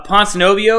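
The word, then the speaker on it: Ponzinibbio: uh like neil's not a better striker uh ponce novio is that's how you say it pon snow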